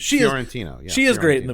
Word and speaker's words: Fiorentino: I'd kind of prefer Joey Lauren Adams over Linda Fiorentini. But, I love Linda Fiorentino. I don't have any problem with her. I think she's great in it. How would you pronounce her name? Fiorentino.